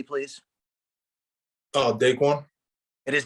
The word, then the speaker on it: DaQuan: DaQuan? It is DaQuan.